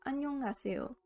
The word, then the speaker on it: 안녕하세요: 안녕하세요 is pronounced as 안녕하세요. When hiet falls between any combination of vowels, 를 or the nasal consonants, 미음, 니은, and 이응, hiet becomes silent.